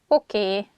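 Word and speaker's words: oké: Okay, okay, okay, okay. This word comes from English. Probably it's easier for Hungarian speakers to pronounce it that way, so we just say a sound E at the end, so it sounds okay instead of okay.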